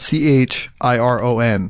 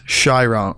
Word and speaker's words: Chiron: main kid an actor because it's spelled c h i r o n right and we're we learn in media that's Chiron right but it's shyon shyon shyon and it's interesting I